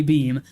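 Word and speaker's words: Beahm: statement on Tuesday beam I think his name is pronounced guy beam confirmed that in 2017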